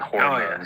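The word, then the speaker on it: ホルモン: But China's pumping them full of antibiotics and hormones. So. Yeah. By the way, little Japanese lesson for you. How do you say pig intestine in Japanese? Hormone.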